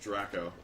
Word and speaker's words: Draco: triangle of sorts with Draco Draco and it's pronounced dracco in this with Draco and Harry one of